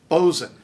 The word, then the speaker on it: boatswain: The next bunch were originally spelled as they were said and vice versa, but English pronunciation shifted away from the spelling. So, draught, draft, waistcoat, waistcoat, boatswain, bosun, victuals, victuals, Worcester, Worcester, Greenwich, Greenwich.